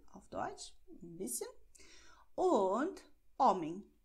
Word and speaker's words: homem: Und Homem. H ist auf Portugiesisch stumm. Aber in dieser Kombination ist es ein bisschen speziell. Aber hier Homem. Stumm wird geschrieben, aber nicht ausgesprochen.